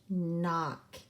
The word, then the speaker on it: knock: And our last word is knock. And we know that when we have digraph CK, the C is silent, but it also means that our vowel is going to be short.